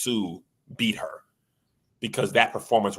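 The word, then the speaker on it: Hsu: I understood if Stephanie, I believe it's pronounced Sue, beat her because that performance was amazing.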